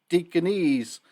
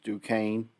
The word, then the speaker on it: Duquesne: horn frogs who host how i used to pronounce them deaconess actually it's duquesne on saturday night the